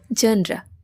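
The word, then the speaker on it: genre: তারপরেরটা হচ্ছে জেন্ড্রা। জেন্ড্রা। যেটাকে আমরা কি বলি? জেন্ডি। জেন্ডি বাট ইটস নট ট্রু এটা হবে জেনরা ধরণ এটার অর্থ হচ্ছে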